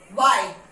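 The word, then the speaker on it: why: Okay, H में after W, डब्ल्यू के बाद जब भी एच हुआ है तो वहां पे एच साइलेंट है। What, okay, here it is silent. What, when, वाई, गॉट इट।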